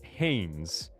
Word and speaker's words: Hanes: I said Hanes. Hanes. Spells and is pronounced Hanes.